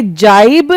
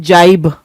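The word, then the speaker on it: gibe: जाइब एंड जाइब। दोनों का प्रोनाउंसिएशन सेम है।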